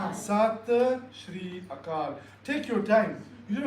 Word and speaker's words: Sat Sri Akal: So it's Sat Sri Akal, meaning it's an acknowledgement of, hey, you are the one, I am the one, and the one exists everywhere. So how do you say? Sat Sri Akal.